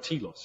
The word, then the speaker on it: Telos: in this thing this tea loss and um we went oh my goodness takara telos it just flows off the tongue it's two syllables it starts with the tea and it's yeah yeah